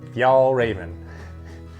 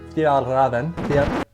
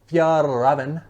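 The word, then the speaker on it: Fjällräven: So the jacket that I'm talking about today is the expedition jacket from, most people say, Fjallraven. It's actually, I've learned, pronounced officially Fjallraven. Fjallraven. Fjallraven.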